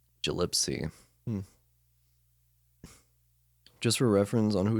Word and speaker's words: Gillespie: Gillespie. Hard G. Like jalapeno poppers, right? Gillipsy.